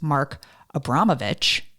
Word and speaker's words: Mark Abramovich: Well, the second half of the podcast is what makes Mark Abramovich, I said it right, a badass.